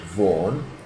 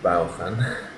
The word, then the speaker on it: Vaughan: So I took a job with the famous Richard Vaughan. Note the pronunciation, you Spanish people. Vaughan, not Baufan.